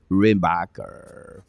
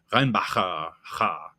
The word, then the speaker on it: Reinbacher: Or Reinbacher, depends how you want to call him. Yeah, I was watching the play-by-play of the rookie camp, and the announcer was pronouncing it Reinbacher, with a little in there. So, yeah. So I think I'll stick just with the Reinbacher. Right. I don't have enough phlegm. I already have enough phlegm